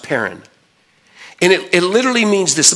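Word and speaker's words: πέραν: word parent is P er a n is pronounced parent and it literally means this let me just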